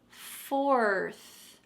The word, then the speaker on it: fourth: talking about four but we're going to add a th on the end and there's a tricky r before the th so say it with me fourth fourth you can just think about the word four and then we're gonna add on a th four fourth fourth let's put it in